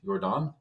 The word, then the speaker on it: Yordan: I guess it's Jordan, isn't it? Jordan. So this is where it came up because that Y is Uh huh. pronounced Oh, like a J sometimes, right? yes, yes. It's like a soft Yeah, J it's like kind of.